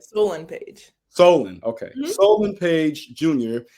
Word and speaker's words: Solon: So I, you know, in doing some research about your family, I saw that your father, Solon Page, did I pronounce it right? Solon Page. Solon, okay.